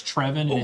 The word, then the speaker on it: Trevon: probably what Brazil needs if trevin's first name were pronounced Travon you might see him in a Chris beard system but the fact that it's Trevon it's give me Trevon